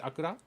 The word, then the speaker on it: Akurra: Alright, so could you explain what Akura is? And is my pronunciation correct? Is it Akura? Yeah.